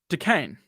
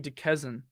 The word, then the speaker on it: Duquesne: Duquesne. I know that doesn't sound like Kane, but I don't know.